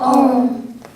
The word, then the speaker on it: Om: represented by the syllable om is pronounced as a u and m where a stands for